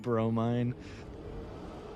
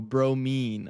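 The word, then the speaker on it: bromine: Now it's pronounced Oh, bro mean.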